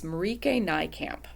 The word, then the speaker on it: Marieke Nijkamp: end of everything the title and it's by Marika nycamp so look how that's spelled I I double checked how it's pronounced uh she is from the Netherlands so yes it's marike NY camp um I first read her first book that